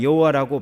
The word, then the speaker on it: 여호와: 그리고 이제 오늘날 우리가 여호와라고 발음을 하는 것은 하나님의 본래 이름은 자음만 있어요. 그러니까 모음은 후대에 생겼어요. 그러니까 그래서 어떻게 읽는지 모른다는 겁니다. 어떤 자음이 들어간지 모르니까. 그래서 이 자음에다가 아도나이의 모음을 붙여서 발음하니 여호와 이렇게 발음이 되는 거예요. 그래서 학자들은 여호와라고도 발음을 할 수 있지만 그 비슷한 단어를 발음하는 것을 이렇게 유추해 보면 야훼로 읽을 수도 있다, 그렇게 말하는 것입니다.